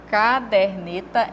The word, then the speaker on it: caderneta: caderneta de Observe aqui caderneta é a palavra correta tá porque vem da palavra caderno né então a sílaba tônica dela é aqui no der e não no car tá nós temos a